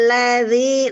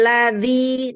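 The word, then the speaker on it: الذي: Zal ini adalah huruf lembut ya. Zal bukan huruf seperti dal. Kalau dal dia hurufnya huruf kuat ya. Jadi dia dibacanya menghentak. Tapi kalau zal adalah huruf lembut, maka kita lembutkan ya. Zalnya tidak dihentak, tidak dengan tekanan ya.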